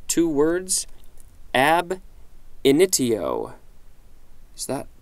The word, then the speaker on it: ab initio: ability next entry looks like it's two words ab initio so that pronounced correctly ab initio initio initio ab initio